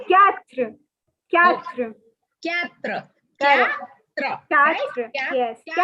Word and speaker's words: quatre: Oh, four is quatre.